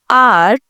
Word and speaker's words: hour: 1 घंटा, कि यहाँ पे H साइलेंट है, R O है, ठीक है, कौन सा? O, ठीक है, इट्स अ स्वर, वोवल साउंड, तो it took him an hour to reach, okay ji.